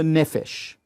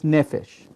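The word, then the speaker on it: נפש: And after that, we have what's called the nefesh. Nefesh. In Hebrew, we spell it nun, pei, and shin.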